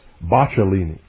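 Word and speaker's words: Boccalini: I believe that's Bachelini. I believe that's the correct pronunciation.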